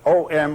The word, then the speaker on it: Om: said to be oh now can be written in Roman letters either as o m or as Au u m o in Sanskrit is analyzed into a and u a u m the Four Element syllable